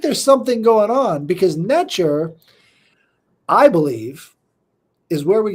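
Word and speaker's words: netjer: that and it's uh the pronunciation is natur n TJ NE T J R natur and this is the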